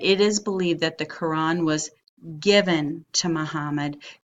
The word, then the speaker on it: Quran: may have seen sacred writing of this religion pronounced and spelled many different ways KO ra n or qura n or q you are ' aan well the